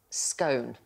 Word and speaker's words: scone: blows with someone over the correct way to pronounce the word scone you mean scon let's go okay david i